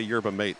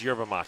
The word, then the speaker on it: yerba mate: Salon, Lionheart Kombucha, the Portland Mercury, and Gayaki Yerba Mate. Is it yerba mate or yerba mate? I heard someone say yerba mate, and that felt wrong. No, it's yerba mate.